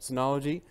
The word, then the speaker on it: Synology: I got this as a Synology. Is that how you say it? Yep, Synology.